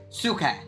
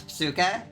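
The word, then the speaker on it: ψυχή: same word for butterfly suuk or psuk technically cuz it has aai which is technically PS but it's sometimes hard to pronounce but it's psuk um and that's also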